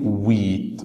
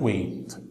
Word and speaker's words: wheat: الغلة او القمح اسمه wheat وليست wait.